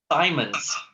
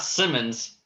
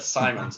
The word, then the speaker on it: Simons: Simons. Not Simmons, but Simons.